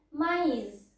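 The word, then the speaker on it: maïs: nggak pakai akson tema misalnya ada huruf Mais kita bacanya itu Mei tapi kalau ada akson temanya kita bacanya maize artinya sendiri itu beda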